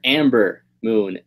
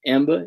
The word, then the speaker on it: Ember Moon: This announcer lady, bruh, she always calls her Amber Moon, and I'm like, it's Ember Moon. Like, you work for the company, learn how to pronounce people's name. It's Ember. It's not Amber.